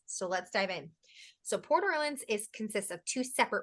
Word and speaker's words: Port Orleans: Port Orleans Port Orleans we hear both ways how do you say it Lauren Port Orleans you say Porter Lanes I say Portland what you're I like